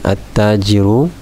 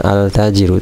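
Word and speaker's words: التاجر: nya tidak dibaca ya jadi salah kalau kita membacanya hal-hal tajir udah jadi itu salah hadits ini juga ada tanda tasdid ya toshida jadi ini membantu kita untuk membacanya ya sehingga kita jangan membacanya altajirun tapi attajiru ya hai namun dalam kasus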